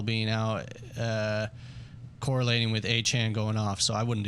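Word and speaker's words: Achane: matchups for aan um sorry aan is how he would like his name pronounced but um like forchan exactly that's that's where the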